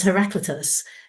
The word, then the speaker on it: Heraclitus: also had to look up to how to pronounce. It's Heraclitus, who was a Greek philosopher from around 500 BC.